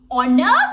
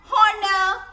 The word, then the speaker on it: honor: අපි කියන්නේ නැහැ honor, hour. That is wrong. That is wrong. So here h is silent.